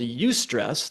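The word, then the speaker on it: eustress: Energy suckers and um that sort of negative stress just really kills your motivation as opposed to something called ustress that's spelled EU stress.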